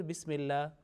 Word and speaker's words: Bismillah: Now, Bismillah, this lam of Allah, in here Bismillah, because of a certain rule and condition, it will be pronounced with thin sound, Bismillah.